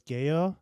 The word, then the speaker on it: Gallo: do you say G Gallo yeah You' say it's spelled Gallow but it's got to be Spanish that's Gayo P Deo yeah he's